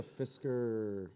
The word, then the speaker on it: Fisker: the the scissors brand it's slightly different but yeah it's pronounced the same way it's called a fisker some